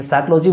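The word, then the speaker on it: psychology: टी ही silent है साइकोलॉजी में पी ही silent है तो इस तरीके की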